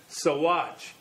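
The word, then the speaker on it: Saguache: such knowledge help with the ute names like sawwatch s-a-g-u-a-c-h-e and compare u-n-c-o or french names like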